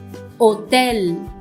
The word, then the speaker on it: hotel: Hotel, hotel, no sound of H.